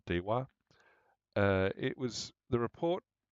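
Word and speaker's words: DEWR: I mean, DWR, but I think they pronounce it dwar.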